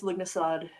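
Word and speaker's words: Lughnasadh: Oh God, I've never known how to pronounce that word. I believe it's Lugnasad, but I'm not entirely sure. And at this point, don't quote me on it.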